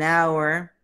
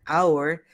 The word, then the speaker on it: hour: For example, an elephant, an apple, an umbrella, an hour. In this word hour, the H is silent.